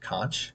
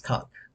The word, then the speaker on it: conch: it's spelled I would I think I even pronounced it conch because that's kind of what it looked like to me but She she corrected me and said, "It's cock."